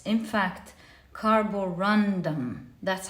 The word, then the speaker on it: carborundum: make this mistake I always call it the Corum when it's in fact carborundum that's how it's pronounced properly carborundum and for pile number three you have the